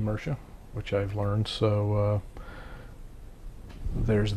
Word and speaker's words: Mersha: I was actually mispronouncing the name as Mears. It's actually Mersha, which I've learned, so there's that.